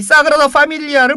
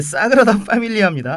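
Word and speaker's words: Sagrada Família: 이 사그라다 파밀리아를 보면 이 바르셀로나의 그 진수를 봤다라고 이렇게 얘기를 할 수 있기 때문입니다. 아, 그 발음이 사그라다 파밀리아인가요? 아, 그렇습니다. 사그라다라고 하면 되나요? 예, 사그라다 파밀리아입니다.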